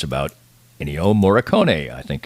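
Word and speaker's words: Ennio: things he's done so that documentary is called Ino the Maestro e n ni i o and it's about Ino moricone I think it's I think the last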